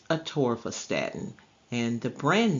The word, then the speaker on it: atorvastatin: It is pronounced atorvastatin, and the brand name for atorvastatin is Lipitor.